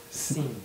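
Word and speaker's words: sim: M on it you don't prounce you don't pronounce it s weird sin like sin yeah Sin Sin scen okay I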